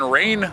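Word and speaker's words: Rayne: this is as usual we are in Rain Louisiana today that's spelled r a y NE e for those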